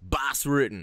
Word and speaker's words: Bas Rutten: name for it there you've got the two suit on there three syllables bass written you know it's short you know it's it's got impact better than Dwayne Johnson come on now you know how it sounds in Dutch is very simple name bas Rutten yeah